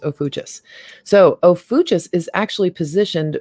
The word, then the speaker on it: Ophiuchus: sun sign here and it's pronounced let me go back and see it's oh fuchsis yeah it's pronounced oh fuchsis so ofutus is actually